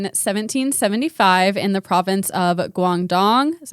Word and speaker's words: Guangdong: xi yang in 1775 in the province of guangdong is how you say it guangdong in china we know very very little about